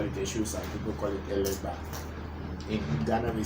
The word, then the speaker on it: Legba: America, they call it, instead of saying a legba, because they can't pronounce the word ba. They say gua. They say a legua. But then the pronunciation is ba, which is difficult to pronounce, so you hear them saying elegua, which is okay, it's the same thing.